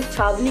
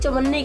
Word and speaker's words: छावनी: जैसे military area होता ना उसको छावनी कहते हैं, तो मुझे नहीं पता था उस टाइम कि छावनी भी कोई वर्ड होता है, तो मैंने गलती से उसको मिस प्रोनाउंस करके चवन्नी कह दिया पूरे ब्लॉग में, तो